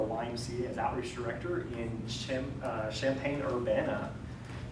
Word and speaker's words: Champaign: director in Champaign Urbana which I know is kind of weird champagne in Urbana but you kind of put it together champagne Urbana it sounds like a kind of a a delaying dessert for something right so I was